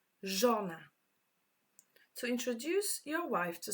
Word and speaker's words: żona: Żona. This one is quite tricky to pronounce because ż doesn't exist in English alphabet. Żona.